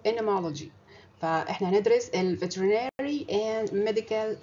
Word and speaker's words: entomology: علم الانتومولوجي ده علم شيق جدا، والنطق بتاعه اللي هو الامريكان، تعرفين انا بنطق امريكان اكسنت، فالان وراها تي مش بتنطق، فاسمه انمولوجي.